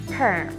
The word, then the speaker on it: perm: it's often pronounced but in english we hear the strong r sound it's a perm but some people don't